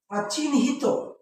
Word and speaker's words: চিহ্নিত: করি যদি আমরা বলি চিহ্নিত চিহ্নিত দেখো এটার উচ্চারণ হচ্ছে এরকম চিহ্ন হিত ওকে দেখো এখানে আমি